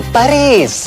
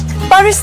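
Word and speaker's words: Paris: याद है 10 साल पहले मैंने कहा था I will take you टू पेरिस। पेरिस नहीं, पेरी।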